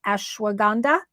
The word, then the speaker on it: ashwagandha: root I always forget don't know how to pronounce this correct me Jen ashwagandha did I do that right oh I did